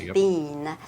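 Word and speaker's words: Biehn: It's Bean. Yeah. Yeah. As in I can't have Bean's name. As in Mr. Bean.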